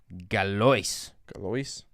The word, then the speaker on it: Galois: Galois.